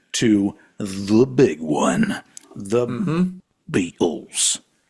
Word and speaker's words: Beatles: the big one, the Beatles. And I will not pronounce the T in Beatles because that's not how you say it. You don't say Beatles. I guess George Harrison said it that way.